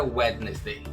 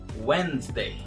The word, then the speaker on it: Wednesday: Não é Wednesday. Esse D aqui também vai ser mudo. A pronúncia correta de quarta-feira é Wednesday.